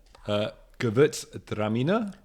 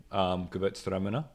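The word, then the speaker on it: Gewürztraminer: I went for a Mader Gewurztraminer. Is that how you pronounce it? Gewurztraminer? Is it? Not just Gewurztraminer. You got to have a pause in between.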